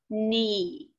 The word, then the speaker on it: knee: doesn't say a word listen to the word knee all i hear is the n so that k is silent nose heel shoulder elbow